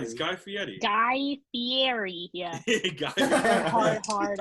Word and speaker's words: Fieri: I'm indebted to Guy Fieri. You said Fieri. Yeah, I know. Right. Yeah. And with that proper pronunciation. Yeah, that's the right way to say it.